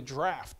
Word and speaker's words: draught: brother Justin read it he said drought - it's really draught okay that's the old English way of saying that according to Alexander's query